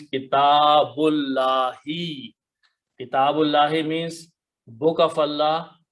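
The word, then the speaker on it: كتاب الله: So we don't pronounce this alif, so it becomes kitabullahi.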